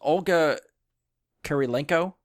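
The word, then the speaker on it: Olga Kurylenko: Olga Kurilenko?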